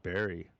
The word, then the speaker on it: bury: Why is it spelled bury, but we actually pronounce it berry?